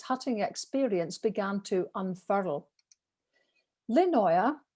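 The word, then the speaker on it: Lindøya: experience began to unfurl lynnoia you don't pronounce the d obviously was first camped on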